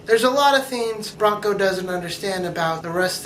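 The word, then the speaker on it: Branko: happen the alien guy I'm gonna call it Bronco even though his name is spelled b-r-a-n-k-o I'm just gonna pronounce it like a horse and the girl of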